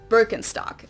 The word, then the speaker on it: Birkenstock: their native accent so English speakers usually say Birkenstock in German we say